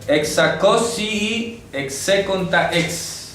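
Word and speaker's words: ἑξακόσιοι ἑξήκοντα ἕξ: dice, hexacosi execonta ex.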